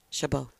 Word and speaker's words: Chabot: How do you pronounce it? Chabot.